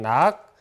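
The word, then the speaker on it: 諾: 그래서 허락할 남깁니다 어 허락 인데 왜 낙으로 발행된 원래 나기 맞는데요 자락으로 발음되는 경우에서 수라 허락 이렇게 할 때 락으로 맞는 되는 경우가 있어 내는 것은 표준은 규정에 따라서 표기를 하시면 됩니다 원래는 나기 맞다는 거 알고 계시면 되겠습니다 그래서 여러분들 쓰기 문제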